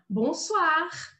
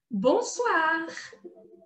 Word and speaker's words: bonsoir: outra forma de cumprimentar bonsoir bonsoir bom nazal meio nasal bom suar suar outra outro aprendizado aqui